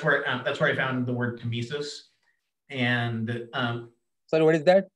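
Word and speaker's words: tmesis: And that's where I found the word temesis. And sorry, what is that? Temesis?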